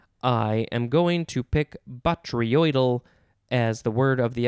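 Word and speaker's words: botryoidal: blonde bottle brush i am going to pick batriodel as the word of the episode it is spelled again b o t r y o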